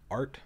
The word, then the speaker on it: Ardt: mm-hmm company is called art mm-hmm pronounced AR T but it's spelled AR DT the D is silent that's how it's part